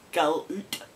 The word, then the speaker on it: galoot: Pronounced galoot, and it means idiot again.